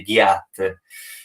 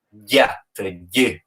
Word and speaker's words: Gjat: addirittura nel mio nome, lì non si legge ghiat, si legge ghiat, ghi. Questo è il suono.